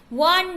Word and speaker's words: one: वन बोलते हैं व, तो हमारा क्या हुआ? प्रोनाउंसिएशन कॉन्सोनेंट वाला।